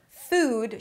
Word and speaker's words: food: 'food' should not sound like 'foot'. Even though it's spelled the same, these are two different sounds. Again 'food' It's a longer vowel sound, in comparison to 'foot'.